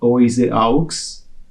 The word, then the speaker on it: oiseau: For instance, if you ask not French-speaking person to read the word "oise aux," it would, if he doesn't know the pronunciation rule of French, she or we or he would never come on the idea that it's oiseau, so birds.